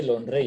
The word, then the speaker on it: Londres: You cannot say Londres, Yvonne. You cannot say Londres. ES is silent, right?